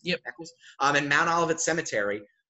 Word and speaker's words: Eccles: right there where the Eccles, I think I'm pronouncing that right, is that right? Eccles? Yeah. Yep. Eccles, in Mount Olivet Cemetery.